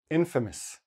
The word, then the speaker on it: infamous: Okay, and the accent infamous on the first syllable.